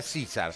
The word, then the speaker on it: Caesar: Caesar, no es, pero se pronuncia César.